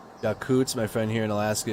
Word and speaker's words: Yakutsk: It's pronounced Yakutsk. My friend here in Alaska is from there, and her entire family is from Russia. She's very heartbroken. It's pronounced Yakutsk. Yakutsk is how you pronounce it.